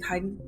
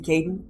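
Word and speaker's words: Kaidan: part of kaid's sorry I'm saying Kaiden should be Kaden in this game I'm probably going to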